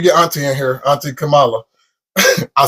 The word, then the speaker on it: Kamala: Hopefully once we get Auntie in here, Auntie Kamala. I said her name wrong. Kamala.